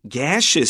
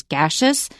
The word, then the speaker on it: gaseous: point, and that is there are two ways to pronounce this word. It can be either the way Chris says it as gaseous, or you can say gaseous.